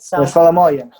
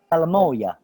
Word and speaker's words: salamoia: Salamoia. Salamoia.